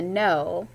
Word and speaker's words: know: No has just two sounds, n, o. The first sound, N, is spelled with the silent K. I know you know the spelling. N, O, and that O sound at the end is O-W, no.